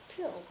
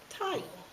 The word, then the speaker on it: tile: Because the short I makes an I sound, so you need the silent E. The silent E is invisible because it doesn't say anything, but it will tell the vowel here, say your name. And he says, tile.